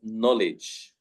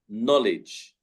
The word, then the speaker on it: knowledge: It is written with a K, but we do not say the K. The word knowledge, yeah. Knowledge, not knowledge.